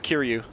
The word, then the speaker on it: Kiryu: Kill, yeah, you just said it right, Kiryu.